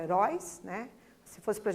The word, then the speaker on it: herói: Então, pessoal, como nós já havíamos, né, inclusive adiantado ali a resposta, herói, urói é a sílaba mais forte, que a gente chama de sílaba tônica, né, porque o som sai mais intenso.